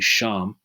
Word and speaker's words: Shem: East Indians that's why the name Shem or pronounced in the Hebrew would be sham sham is a very